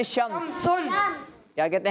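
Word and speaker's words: شمس: अरबी में कहते हैं शम्स शमनम क्या कहते हैं बच्चों शम्स नी आखिरी वाला जो हर्फ है ना उसको हम वफ करके पढ़ेंगे साइलेंट करके पढ़ेंगे तो यह बन जाएगा शम्स बास का नाम भी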